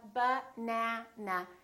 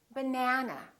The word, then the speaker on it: banana: is stressed for example if i say the word banana banana has three syllables let's take a look so we have ba na na this second syllable is stressed that means this vowel is going to be much longer repeat banana banana so the e is going to be prolonged let's look at another